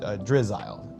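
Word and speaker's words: Drizzile: And then I would probably try to evolve one of these to get to the um uh to uh Drizzle is how you pronounce it.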